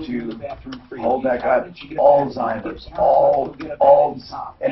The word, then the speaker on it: Alzheimer's: hold that guy Alzheimer's, and it's not, there's no T in it. How does it say how to pronounce it?